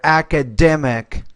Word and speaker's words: academic: So stress is on that third syllable there, academic.